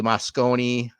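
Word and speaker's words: Mosconi: So I remember was it Willie Moscone?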